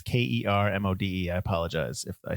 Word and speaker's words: Kermode: All right, so there was a critic, and I'm going to say his last name wrong, but his name is Mark Kermode or Kermode. It's Kermode.